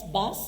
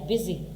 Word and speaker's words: busy: तो ये वाली जो साउंड्स हैं, अब आप देखें हम लिखें BUS बस और BUSY बिजी, हालांकि इसे बसी होना चाहिए था मगर इट्स बिजी।